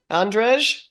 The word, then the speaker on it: Andrzej: How do I pronounce that? Andrzej?